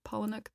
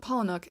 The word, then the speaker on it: Palahniuk: Fight Club by Chuck Palahniuk Palahniuk paumanok that's how you say it Palahniuk that I think is